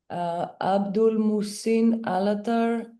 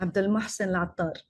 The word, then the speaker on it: Abdul Mohsen Al-Attar: Abdul Musin Alatar. I apologize if I didn't pronounce that well. Abdul Mohsen Al-Attar. There you go.